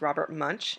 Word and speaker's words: Munsch: a play on words the author his name is robert munch and it's spelled just like i have it spelled right there and so